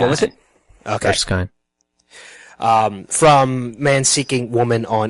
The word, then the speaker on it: Erskine: How do you pronounce her last name? Erskine. What was it? Okay. Erskine.